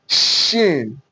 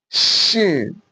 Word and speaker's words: shin: Then this one, shin, shin, shin, S-H-I-N, shin. You can see the way I articulated my word, my mouth. Sin, shin, shin.